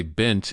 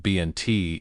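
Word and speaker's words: بنت: Now, the reason why you say bint instead of bnt is that there aren't just letters a word consists of in the Arabic language, but also vowels.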